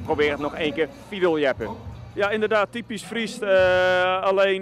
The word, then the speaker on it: Fierljeppen: Hoe spreek je dat nou uit? Fiedel, jeppen.